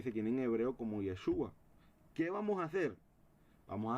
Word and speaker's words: Yeshua: Pero en arameo es pronunciado como Yeshua, que es similar al hebreo.